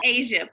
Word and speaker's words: Ajia: Yeah, but it's Asia, pronounced just like the continent.